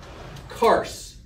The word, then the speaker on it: Kurs: now Noah'd on Mount Kars. So it's like curse, but it rhymes with curse. It's kind of like a good equal equivalent in the English.